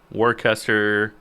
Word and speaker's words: Worcester: because Worcester, like wash your sister sauce, just wanted to make sure.